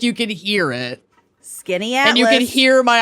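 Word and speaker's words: Skaneateles: I can't believe that this is how you pronounce it, but Skinny Atlas Lake. Correct. Skinny Atlas. Wow. If I Googled it, but if I hadn't, I would have guessed Scaniatelis.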